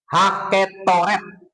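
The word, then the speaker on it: הקטורת: Et mesbah haketoret. Ya, haketoret. Haketoret. Ini E-nya hampir nggak kedengaran.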